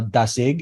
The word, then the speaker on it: Dasig: asking definitely definitely and is it dasig is that how we pronounce this as well yeah there's again it depends on the the region you're from but you know dasig is is how I hear it um there there